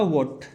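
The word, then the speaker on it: watt: Unit होता है इसका वॉट। आप लोगों ने सुना होगा इसकी वाट लगा दी, तो यहां पर वाट नहीं होगा बेटा, यहां पर वॉट होगा।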